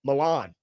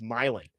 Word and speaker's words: Milan: Like everybody knows Milan, but it's Milan.